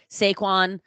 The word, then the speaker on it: Saquon: I love Saquon.